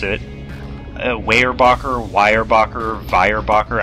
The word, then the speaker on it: Weyerbacher: Weyerbacher, Weyerbacher, Weyerbacher. I'm going to say Weyerbacher because it's kind of the closest to Pennsylvania German Dutch without, you know, sounding like a jackass.